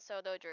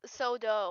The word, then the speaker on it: Soto Drew: Yes, it is indeed Soto Drew. It can just be Drew. That's fine. I can deal with it. Everyone says it's like it's Sodo or something.